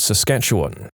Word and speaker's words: Saskatchewan: I'm originally from a place called Saskatchewan. It's not really hard to pronounce. It's just like it's spelled. But if you haven't heard it a lot, it can be intimidating to try and read out loud.